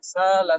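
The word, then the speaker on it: سأل: Sa'ala sa'ilun. Maka di sini Imam Ibnu Amir mengganti hamzah sa'ala itu dengan huruf alif. Sala. Ya. Sa'ala sa'ilun. Jadi bacanya sala sa'ilun.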